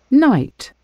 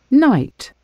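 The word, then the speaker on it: knight: Night. Night. Очень похоже на слово ночь, поэтому будьте внимательны. Первая буква К не читается.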